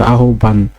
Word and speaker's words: আহ্বান: আহ্বান আমরা সরেয়া হয় বয় আকার দন্ত না আহ্বান এইভাবেও লিখি কিন্তু উচ্চারণের সময় সরেয়া ও ভয়াকার দন্ত নয় হসন্ত আহ্বান। অতঃপর।